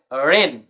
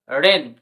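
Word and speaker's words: rain: যদি আর লেটারটি থাকে তখন এ আর এর উচ্চারণ হবে এয়া। তো আর এ আই এন কি হবে রেন, রেন, টি আর এ আই এন ট্রেন।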